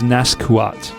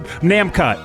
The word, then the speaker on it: Namcot: I was reading it as Naskuot.